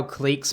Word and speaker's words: clique: uh miss type f i used to pronounce it click but it's pronounced clique okay shut the [